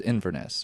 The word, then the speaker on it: Inverness: I think it was Inverness, which is it's right near there, pronouncing that correctly.